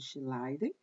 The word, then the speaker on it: Schleiden: Pronuncia-se Schleiden.